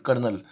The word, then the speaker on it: colonel: वैसे lieutenant कर्नल pronunciation इसका ये है।